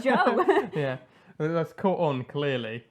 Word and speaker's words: Zhou: He kept calling him Zoo, and I was like, no, it's Joe.